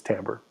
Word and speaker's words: timbre: these are selected and i know it's spelled like it looks like it's timbre but it's timbre just that's the way it is so you can have